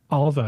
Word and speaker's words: Alva: reward by the way Alva is how you say my name a L VA a